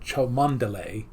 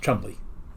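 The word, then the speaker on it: Cholmondeley: c-h-o-m-o-n-d-e-l-a-a-y it looks like chomandale and we looked it up and it said it's pronounced Chumley it's like okay sure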